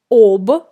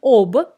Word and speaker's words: об: Я ничего не знаю об этой игре. I don't know anything about this game. Again, we write о in the preposition об, but we pronounce а.